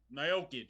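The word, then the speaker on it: Miocic: What's how you pronounce his name again? Stipe Nyokic, yeah.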